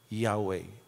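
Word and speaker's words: Yahweh: na ultimong mga Hudyo they can't even pronounce it kaya para ma- pronounce with all respect nilagyan nila ng vowels para masabing mabanggit yahwe and we say that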